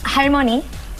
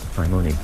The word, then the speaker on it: 할머니: 할머니. 할머니.